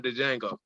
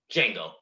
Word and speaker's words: Django: samuel l jackson from django django but yeah the d is silent that's a whole line